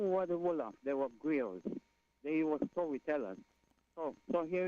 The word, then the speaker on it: griot: They're sometimes pronounced as griots, right? Yeah, griot. But a griot is actually griot.